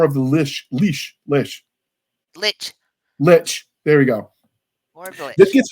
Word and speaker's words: Lich: the war of the Lish leash Lish Lich Lich there you go this gets harder to get pronunciation when you're hard of hearing uh one